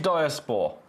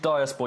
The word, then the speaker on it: diaspore: Right, diaspor. Oh, co-keys. Co-keys. Co-cheese. Don't know. I don't know. It's my honest answer. That's my honest answer. Have a look at this. Color change diaspor. Color change diaspor.